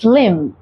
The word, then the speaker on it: limb: इस limb अगर किसी वर्ड में एम बी साथ में होता है तो हम बी को साइलेंट रखते हैं. हम पढ़ेंगे limb.